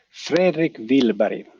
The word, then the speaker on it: Fredrik Willberg: Fredrik Willberg. That's the way in Swedish.